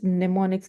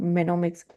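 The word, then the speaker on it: mnemonics: It's pneumonics. It's not menomics. It's pneumonics. M is silent here.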